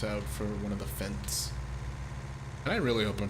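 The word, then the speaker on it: Fendt: for one of the Fents. And I really hope I'm pronouncing that right. Fents, I believe it's pronounced Fents. That sounds like fence.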